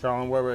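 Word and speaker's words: Schaller & Weber: We are at Schaller and Weber. Am I saying it right? Shaw and Weber, exactly.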